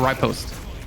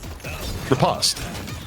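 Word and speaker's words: riposte: Repost or Ripost? Repost. Why repost? I just I've never heard anyone pronounce it ripost like I've never heard I No one's you've never heard someone call repost. No, not ryost. You said ripost.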